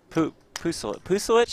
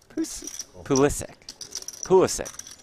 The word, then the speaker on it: Pulisic: Striker is Pusilich. How do you say his name, Aiden? Christian. Pulisic.